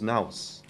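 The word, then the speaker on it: ναός: 这是 It's pronounced. It was naus.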